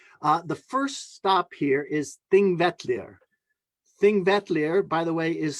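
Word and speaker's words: Þingvellir: It looks like Pingvellir, but it's pronounced Thingvellir.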